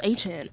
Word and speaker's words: Etienne: Well, it's actually pronounced Etienne.